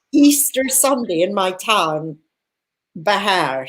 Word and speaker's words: Vejer: But Easter Sunday in my town, Bejar, spelt Vejer for anyone that wants to look it up on the map. In Spanish, V's are pronounced with B's. Okay. So Bejar, J's are Jotas.